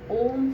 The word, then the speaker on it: ओम: ओ यानी कि होठों को ओ की शेप में लेकर आना है। ओ गले से वाइब्रेशन होती है। 80% हमें ओ का उच्चारण करना है। माँ का उच्चारण हमें 20% करना है। माँ का उच्चारण करने के लिए दोनों होठ हमारे बंद, दंत पंक्तियाँ हमारे बंद, गले से माँ की साउंड निकलेगी।